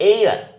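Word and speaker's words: air: ये देखिए एक बड़ा एक वर्ड है एयर। इसको आप हेयर नहीं बोलेंगे, एयर बोलते हैं इसको।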